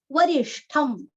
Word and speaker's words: वरिष्ठं: वरिष्ठम, वरिष्ठम, वरीरस्व, जैसे उत्तिष्ठ वैसे यहाँ पे ष्ठ, अच्छा उच्चारण करना है ष्ठ का, और लास्ट में आधा म, वरिष्ठम।